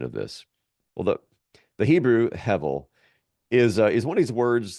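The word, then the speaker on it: הֶבֶל: So the word that's translated here as vanity is hevel, which you would write in English as Hebel. The B is often pronounced as a V, so Hevel is kind of the way that it sounds, hevel.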